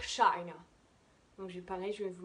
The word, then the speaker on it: China: Donc comme par exemple, la chi en anglais, on accentue sur la première syllabe et on va dire China.